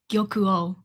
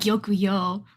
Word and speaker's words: Gyokuo: I say yuo. Gyokuo. So, not not Yokuo, but Gyoku O.